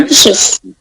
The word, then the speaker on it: ambitious: Ambitious. Ambitious. Yeah, what the stress on a or ba? On the first syllable, on the second syllable.